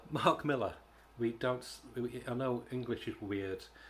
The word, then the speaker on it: Millar: Not Millar, but look, he's Scottish. I want to say this to people who live in America. When you say Miller, when it's spelled with an A, it's not Millar. Nobody's called Millar. Hello, I'm Mr. Millar. Oh, hello, my lover. Unless you're from Devon. But yeah, it's Miller.